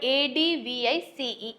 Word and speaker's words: advice: z e e sound so pronunciation wise the difference is s and z and coming to the